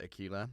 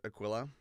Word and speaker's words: Aquila: The Aquilla, which the whole time I pronounced Akquila. That's going to be so embarrassing because I think Aquila sounds better. But then after after the fact, I went and looked up how it's pronounced and it is Aquilla, which I found out